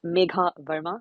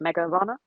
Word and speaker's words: Megha Verma: Well, actually, the correct pronunciation of her forename and surname is Megha Verma, but I think the sort of anglicized pronunciation is just Mega Varma.